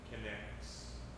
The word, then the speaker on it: Kinect: And it's spelled like kinetic, kind of. Yes, Connects. Yeah. The Kinect.